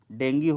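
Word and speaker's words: dengue: और जो डेंगू ज्वर है दोस्तों, इसका शुद्ध उच्चारण डेंगी होता है, लेकिन हम लोग बोलचाल की भाषा में इसे डेंगू कहते हैं।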